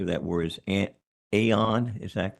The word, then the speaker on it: anion: for the recommended modular and I believe the pronunciation of that word is an AON. Is that correct? Anion.